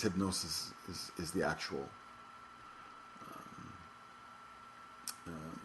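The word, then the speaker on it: Hipgnosis: how to pronounce this h y PG n o i I think it's a strange spelling and it's meant to be artistic I guess uh but I think it's hypnosis is is the actual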